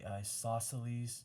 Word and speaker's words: isosceles: Remember those two S's. Isosceles. Okay? All right, so right here I'm going to say isos, and then celes. Okay, isosceles. And that is obtuse because we have that real big angle there.